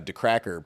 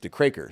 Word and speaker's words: Decraker: So, I went out of my way to find a way to make it pronounced the cracker so that people would pronounce it correctly and not get confused.